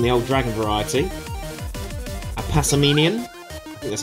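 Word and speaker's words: Passimian: dratini still in the old dragon variety a passaminion that's how you say it pokemon catcher still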